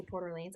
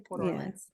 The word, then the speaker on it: Port Orleans: Port Orleans Port Orleans we hear both ways how do you say it Lauren Port Orleans you say Porter Lanes I say Portland what you're I like